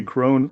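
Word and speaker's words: Crone: I know in French we say Kron. Is it Kron? We would say Kron as well. In English, it would be Kron. Or if you use the German, Krone.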